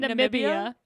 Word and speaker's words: Namibia: Namibia? Fucking Jesus. Jesus. Nambia? What did I say? You said Nambia. Is It's it Namibia?